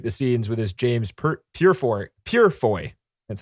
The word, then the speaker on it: Purefoy: have to reshoot the scenes with this James Purefoy. That's how you say his name. Wow. Guy. They dubbed over Hugo Weaving's voice over this James Purefoy's action parts or whatever.